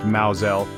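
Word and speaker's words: Mousehole: Think of Mouse Hole in Cornwall pronounced Maoelle or Hapiesburg in Norfolk pronounced Hayesborough or Fro in Somerset rhymes with broom.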